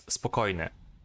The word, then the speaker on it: Spokojny: In Russian, as the first O has not an accent, it is pronounced as A, and the second Y is pronounced as J or Y. So it would be spokojny.